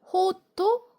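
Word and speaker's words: ホット: 그래서 코히라고 잘 발음해 주시면 됩니다. 뜨거운 걸로 드시고 싶으면 호토 코입니다.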